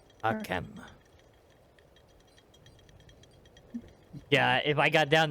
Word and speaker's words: Arkham: Harkim? Arkham. Arkham.